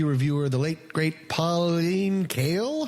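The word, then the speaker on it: Kael: forget the movie reviewer the late great Pauline kale how do you pronounce that Stephen oh yeah yeah you've got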